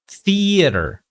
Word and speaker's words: theater: The theater, okay, it should be theater, okay, or theater. Okay, so soft TH, long E sound.